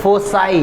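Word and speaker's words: foci: फोसाई। जैसे फोकस है, ये आपको प्रोनाउंसिएशन के लिए बता रहे हैं क्योंकि ये सब ग्रीक वर्ड है, ये सब ग्रीक वर्ड।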